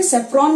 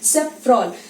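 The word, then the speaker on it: safrole: तो सेकंड देखो यहाँ पे कॉन्स्टिट्यूएंट क्या है, सेफ्रॉल, क्योंकि ये अल्कोहल इसमें है इसलिए इसका स्पेलिंग क्या हो गया, सेफ्रॉन नहीं बोल के हम क्या बोलेंगे, सेफ्रॉल।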